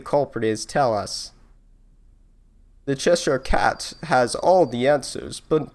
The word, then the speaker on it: Cheshire Cat: Cheshire Cat. Alright, cool. I knew that. I have been pronouncing it right.